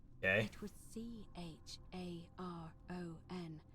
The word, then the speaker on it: Charon: The name you heard wasn't Karen. Okay. It was Charon, as in Charon, the ferryman of the dead.